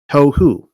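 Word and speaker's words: תֹהוּ: you can read hebrew you pronounce it like this tohu try it tohu again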